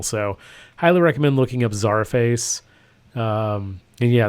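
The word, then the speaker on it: Czarface: highly recommend looking up Zara face um and yeah that's spelled like the old Russian Zar CZ a r face all one word uh so check them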